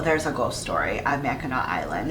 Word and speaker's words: Mackinac: and yes it looks like it should be pronounced mackinac and that's how a lot of people who don't live in michigan pronounce it but it is pronounced mackinac mackinac island's mission resort is said to be